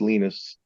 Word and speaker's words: Linus: We were on tour with a German techno thrash band called Obscura, and the bass player, we say Linus, but over there it's pronounced Linus.